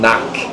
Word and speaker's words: knock: Knock. Yeah, knock. Silent K. The second K is cut. Yeah. The first one is Silent.